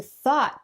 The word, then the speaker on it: thought: Thinking takes a lot of energy, so if you thought too much, you might be tired and... It also rhymes with bought and fought, so if you know